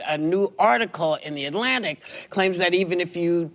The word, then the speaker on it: Atlantic: Tuesday， student 而不是 student。Atlantic 这个上期讲过了 T 在 N 后面是不发音的 Atlantic But a new article in The Atlantic But a new article in The Atlantic But